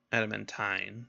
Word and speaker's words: adamantine: high-power high-end materials that's Adam in tight adamantine as it's pronounced in this universe Elmwood Ironwood mithril the